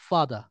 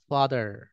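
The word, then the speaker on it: father: দেয়া হ্যা এই ব্রিটিশ আর উচ্চারণ করে না কিন্তু আমেরিকান আর উচ্চারণ করে ঠিক আছে যেমন দেখেন এফ এটি এইচই আর এটা ব্রিটিশ বলবে ফাদা কিন্তু আমেরিকান বলবে ফাদার ফাদার আর উচ্চারণ করবে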